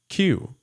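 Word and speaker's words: 九: And the number 9 in Japanese is pronounced Q.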